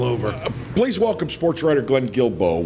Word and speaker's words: Guilbeau: please welcome sportswriter Glenn Guilbeau with get it right today network a USA Today network is the right way to say it but we appreciate you being